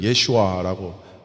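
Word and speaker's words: ישוע: 그들은 예슈아라고 발음을 하는데 정확하게 예슈아.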